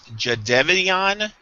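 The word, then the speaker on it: Jadeveon: going to be um je now what's the pronunciation now it's Jevon clown J Jevan clowning clowning okay well as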